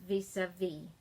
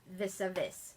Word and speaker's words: Vis-à-Vis: And it's spelled VIS-A with a little diacritical mark, -VIS. And in French, after the last consonant, everything else is dropped. So that's why it says vis-a-vis, and not vis-a-vis.